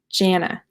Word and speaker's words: Jana: Okay, so Jan, like January, Jana. Yes?